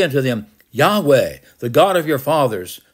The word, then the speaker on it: Yahweh: the children of Israel Yahweh the old translations was Jehovah but that's not the correct pronunciation it's Yahweh the god of your